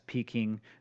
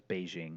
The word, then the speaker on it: Beijing: there was a yeah the older system would have it as peaking the newer system as it as Beijing and it's the same